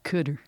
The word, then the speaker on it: Qatar: hate that i say qatar rhymes with guitar kurt kutter that's how they used